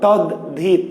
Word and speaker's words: তদ্ধিত: ঠিক তেমনি লেখা আছে দয়ে ধ তদ্ধিত, তদ্ধিত, কিন্তু আমরা উচ্চারণ করছি কি তদ্ধিত, ধয় ধ।